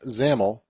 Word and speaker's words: XAML: relates to the designer developer serverlight workflow xaml pronounced xaml is a case-sensitive text and tag-based mock-up language